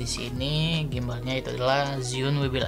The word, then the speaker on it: Zhiyun: Lebih ngucapinnya tuh Zhiyun karena emang dari hurufnya itu Zhiyun. Tapi kalau misalkan dari bahasa Mandarin atau Taiwan Mandarin, ya pokoknya bahasa Cina lah. Pokoknya bahasa Mandarin itu pengucapannya Zhiyun. Ya pokoknya begitulah.